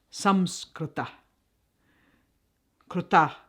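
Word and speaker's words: संस्कृत: or some Scruton Sanskrit the word Sanskrit is pronounced some squatter Krita from the root verb crew to do and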